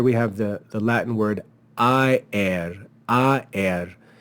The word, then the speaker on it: aer: have the Latin word aer. It's two syllables because this symbol tells us that this is actually not to be read as a diphthong, but as two separate vowels.